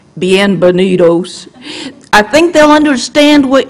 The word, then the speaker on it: bienvenidos: And I did put in there that you put your accent on the knee and that the D is like okay.